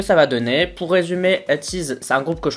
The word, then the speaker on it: ATEEZ: Aujourd'hui on va parler d'un groupe d'Angers, déjà parlé plein de fois sur la chaîne, c'est ATEEZ, enfin ATEEZ plutôt, si on le prononce bien.